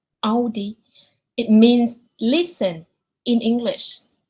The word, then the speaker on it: Audi: So this really first one, people usually pronounce that Audi, but it actually in German they pronounce it Audi. Audi.